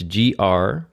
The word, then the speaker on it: Gryba: So it's Gryba.